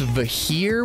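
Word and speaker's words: Vikhr: I'm pretty sure it's pronounced Vahir with a silent K, but I'm probably just gonna call it Vicky like the rest of the gun noobs.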